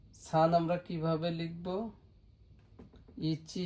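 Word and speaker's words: 一: Itchy একটা দাগ, stock সংখ্যা এখানে লিখে দেব। এটা হলো স্টক সংখ্যা, কিভাবে লিখতেছি সেটা। ইচি ইচি এটা হলো আমরা হিতোৎসু বলতে পারি।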